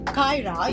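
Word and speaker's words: Qyra: It's called Kyra. You spell it like Q-Y-R-A, and it is a German product, and I really want you to unbox this.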